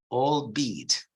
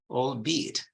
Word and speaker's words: albeit: English is this word all deed all beat you see it's a contraction of the sentence all be eat so it means qualities